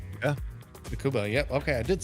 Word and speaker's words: Tsukuba: Tsukuba. Yeah. Tsukuba.